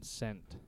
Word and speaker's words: scent: Due to the rules of English, the C is silent in that case because there's all sorts of other examples of S and C like scissors.